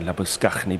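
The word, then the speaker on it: Labuschagne: course it's different so I will insist on saying labusknney because he's South African is trying to deny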